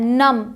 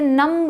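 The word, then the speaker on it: numb: नम, इसे नम्ब नहीं पढ़ते, इसे सिर्फ और सिर्फ पढ़ेंगे नम।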